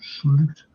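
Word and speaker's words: Slot: to step up and it's where slop plays slute this proper pronunciation it's where he plays him so I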